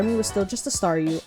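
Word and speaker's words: Staryu: was still just a Staru, I could never pronounce its name right. Oh, sorry. Oh, that's so cute. It always ended up sounding like saw you.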